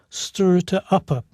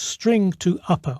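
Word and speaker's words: strtoupper: a rather unpronounceable name stir it to upper it makes a bit more sense when you realize that the STR at the beginning stands for string so it's string to upper or string to uppercase i'll call it string to upper to make it easier to pronounce so to convert city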